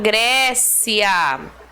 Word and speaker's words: Grécia: então pedir para vocês sublinhar Grécia como assento está na penúltima sílaba só pode ser paroxítona